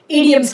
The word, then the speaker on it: idioms: और इंग्लिश में हम उनको idioms कहते हैं. All right? Or idioms, as the right pronunciation is. Idioms, not idioms.